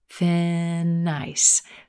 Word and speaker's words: thin ice: ice with the boss thin ice thin ice here again we've got linking and flowing of sounds that in sound at the end of thin releases into the word ice fince making ice